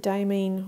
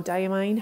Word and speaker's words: Diamine: I don't think the Diamine ones are, but the Diamine or Diamine, however you want to pronounce it, are relatively inexpensive for the bottle sizes.